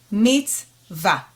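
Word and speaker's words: מִצְוָה: as we said before the cheva nach is a stop sign in your reading so it's going to be meets it closes the syllable it becomes a part of the first syllable meets va which is a commandment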